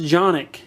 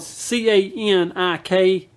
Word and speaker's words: Canik: This is called the Canik TP9, and it's it's actually pronounced Jonik because it is Turkish, but it's spelled C-A-N-I-K.